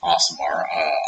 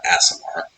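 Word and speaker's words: Aasimar: a very simple thing asamar apparently you're supposed to pronounce it asamar I've always pronounced it asamar I guess that made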